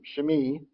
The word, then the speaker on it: Shimei: His name is Shim Shmei. I looked that one up because I wasn't sure how to pronounce it. Shmei.